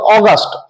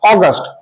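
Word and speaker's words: August: অদল বদল হবে একটু হেরফের হবে এক্ষেত্রে আমরা উচ্চারণ করব অগস্ট অগস্ট মাসের নাম এক্ষেত্রে অগস্টের এটা দেখো ছোট হাতের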